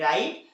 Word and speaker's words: write: नहीं किया जाता है आर से इसका प्रनंसीएशन होता है जैसे डब्लू आर ओ एन जी रोंग व आर आई टी राइट व आर आई एस टी रिस्ट okay तो यह थी